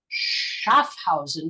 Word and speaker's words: Schaffhausen: He's the founder of Edu Lab, and currently he's a postdoc in quantum software engineering at the Constructor Institute Schaffhausen. Did I pronounce that correctly? Schaffhausen?